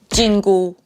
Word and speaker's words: 緊箍: prohibition band fun fact they have the same pronunciation in Chinese jingu just with different tones so that would be